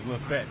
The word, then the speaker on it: Lafayette: There's there's one that uh not lefet. They call it Lefet.